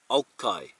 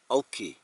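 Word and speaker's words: Golchi: Now, if I read it as it looked, it would be Gulki, but which means to wash, to clean, and it's spelt G-O-L-C-H-I. In place names, the initial G is usually dropped when written, so it would sound like this, Olchi, Olchi.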